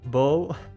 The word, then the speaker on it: bow: but bow is bow if it's a hair tie but bow is pronounced bow if it's bowing down i i know i